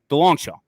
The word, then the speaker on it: DeLongchamps: is how it sounds this is how it looks dong d l n g and then Champs c h MPS however pronounced Del longshaw right so you know